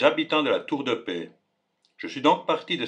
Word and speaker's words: Peilz: L'origine de la Tour de Paix est un mystère. Certains pensent qu'il provient du nom latin Turis Pelliana. D'autres, du déterminatif paix, prononcé comme le mot paix.